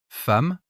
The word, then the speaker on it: femme: Femme, 2 M, mais on dit femme.